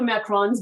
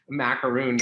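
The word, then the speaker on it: macaron: um even with the macrons behind you yeah which is perfect you pronounce it properly nice job if someone says macaroon i'm like did i correct them a macaroon is a coconut cookie this is a macbook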